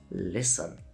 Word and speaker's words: listen: Words like listen, it's not listen, it's listen. Castle, not castle. Fasten, not fasten. The ST combination in the middle of a word is almost always a signal that the T is just going to disappear.